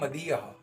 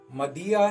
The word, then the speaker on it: Madiha: नाम है मदिया। मदिया नाम का स्पेलिंग है MADIHA, मदिया।